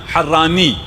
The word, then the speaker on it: حرانی: جس کے یہاں بھی ابن تیمیہ حرانی نون کے ساتھ، ٹھیک ہے نا، یہ نون لیک میں رکھیں اس کو، ہاں جب میم آ جائے پھر بے شک آپ جو مرضی تلفظ کریں، صلوات پڑھ دیجیے محمد